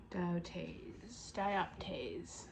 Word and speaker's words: dioptase: Dioptase. I keep thinking that the P is silent on there. In this word, it is not.